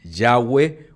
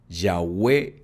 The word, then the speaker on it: Yahweh: La pronunciación exacta del tetragramatón no está totalmente segura. Algunos pronuncian Yahweh, otros Yahweh y otros Yahvé y otros Yahvé.